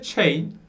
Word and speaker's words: chain: C ve H bir araya geldiğinde her zaman değil, her zaman olmayabilir, istisnalar olabilir ama %95, %99 hatta Ç diye okunur, tamam. C, H bir araya geldiğinde Ç diye okunur genellikle.